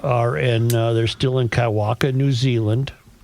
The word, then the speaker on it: Kaiwaka: He has not corrected me on the pronunciation, so I bet I'm saying it correctly. All right. Well, you try it. K AI W A K A Kaiwaka.